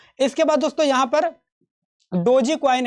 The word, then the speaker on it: DOGE: इसके बाद दोस्तों यहां पर डोजी कॉइन है। डोजी कॉइन को डॉग भी बोल सकते हो, क्योंकि यहां पर इसका स्पेलिंग हो जाता है DOGE, ठीक है।